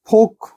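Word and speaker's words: folk: शब्दों में देखते हैं फोक फोक हो गया एल साइलेंट है यहां पे किसी समुदाय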